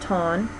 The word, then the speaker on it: torn: But tire is pronounced taya, and torn is pronounced ton.